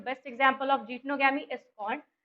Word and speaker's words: जीटनोगैमी: Pollination की, वो है जीटनोगैमी। ठीक है, व्हाट जीटनोगैमी इज? अच्छा, इसके प्रोनाउंसिएशन में काफी लोगों को प्रॉब्लम होती है, जीनटोगैमी और जीटोनोगैमी, है ना। इसका करेक्ट प्रोनाउंसिएशन है जीटनोगैमी, जीटनोगैमी।